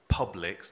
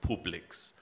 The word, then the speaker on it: Publix: very specifically said that it was Publix not Publix as it would be pronounced in German because it took inspiration from an English pub is that can you